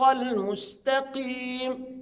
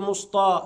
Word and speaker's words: المستقيم: انطقه مفخمه اهدنا الصراط المستقيم يبقى الميم مرققه والسين مرققه والتاء مرققه المست يبقى ماينفعش اقول مسطا لا ما ينفعش يبقى الصح اقول ايه المستقي